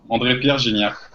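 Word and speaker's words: André-Pierre Gignac: No, lo pronuncian muy bien, es así. André Pierre Gignac.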